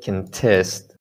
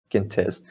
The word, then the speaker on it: contest: know contest contest right context is a noun a competition but as a verb can test the stresses on the second syllable can test so if you can